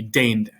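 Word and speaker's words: dei: is e i so in latin e i makes an a sound like the english word neighbor so in latin the word in green would be day so now we're ready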